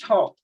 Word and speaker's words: Thoth: Thoth. I knew I was. That's why I kept going Thoth. It sounds weird. All right. Thoth is pronounced Thoth, also known as Tehuti, is the ancient Egyptian